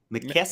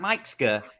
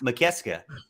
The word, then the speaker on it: McKeska: My brain can't not say Mike Ska, but if you break it down into 3 syllables, McKeska. Maybe you're right. Yeah, that is better. So not Mike Ska, it's McKeska.